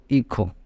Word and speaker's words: hijo: So son in Spanish written as hijo, but it can be pronounced as IKHO, hijo.